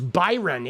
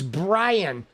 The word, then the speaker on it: Bryon: I thought it was Byron. It's Brian. My bad, dude. I see. I've even been saying his name wrong, dude. It's Brian. Oh my god, dude. Excuse me while I say his name for like the first half of the video. Pardon me because I am so like like unaware of this dude. It's Brian spelled like Byron like a dyslexic Byron.